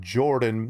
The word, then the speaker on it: Jordan: specific YouTube channel called Jordan spelled with a pH the pH is silent uh was a Jo R pH DN and his his uh